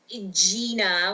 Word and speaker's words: Gina: So my name is Gina with like the line over the E.